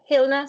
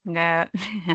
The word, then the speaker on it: Helena: Hilna, sorry, did I pronounce it correct? No, Helena. Tell me how to pronounce it, sorry. It's okay, Helena. Helena, yes.